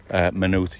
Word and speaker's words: Maynooth: So the Y, you would eliminate it from the... Well, not completely. You would say Maynooth. Maynooth. Maynooth. So a little bit.